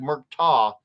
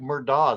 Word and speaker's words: Murdaugh: I think you usually pronounce it Murtaugh, but it's Murdaugh, as it turns out.